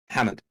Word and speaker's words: Hamad: in middle eastern my my actual name pronounced correctly in english makes it sound like i've been on a on a two night bender hammond dude i've been i